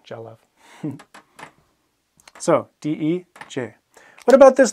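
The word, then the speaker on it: dealbh: Jalav. Jalav. It's a picture. It can also be a painting. Jalav. Jalav. And if you watch the BH and MH pronunciation video, there's that V sound, Jalav.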